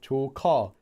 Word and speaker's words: 조카: Different pronunciation. 조카, call, ka. Like drive a car.